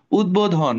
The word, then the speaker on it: উদ্বোধন: দ এর সাথে আছে দ এর সাথে বফালা থাকলে উচ্চারণ করতে হবে আরে কে কে আছে